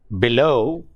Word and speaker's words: below: For example, in a word like below, below, the stress is on the second syllable, that is not on be but low, below.